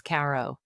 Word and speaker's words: Cairo: The county seat is Caro, and if you've never been, know that locals don't pronounce it like Egypt.